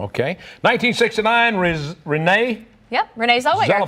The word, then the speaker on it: Zellweger: 1969, Renee Yep, Renee Zellweger. Zellweger. I can't pronounce that.